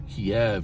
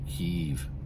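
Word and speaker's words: Kyiv: who for how long people were mispronouncing their Capital as Kev instead of keev I've even seen that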